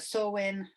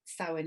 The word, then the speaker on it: Samhain: is from celtic samhain it's spelt s-a-m-h-a-i-n but pronounce sarwin um i have seen it for that sawwin um but sowin is the one i should use tonight and